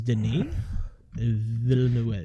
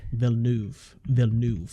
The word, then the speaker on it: Denis Villeneuve: So January is Denis Villeneuve. Yeah, Villeneuve. I think Denis Villeneuve, because he's technically French.